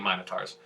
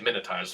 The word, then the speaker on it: Minotaurs: the Nimons are basically Minotaurs. Okay. I just realized I pronounced it the British way. I didn't even realize Americans say Minotaurs. Yeah. British people say Minotaurs.